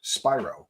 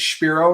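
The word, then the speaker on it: Spiro: attorney um Spyro and I say Spyro because I understand that it is pronounced Spyro I'm not being my usual wise Alex cell but there's a lot of people that that refer to this person as Shiro and it makes it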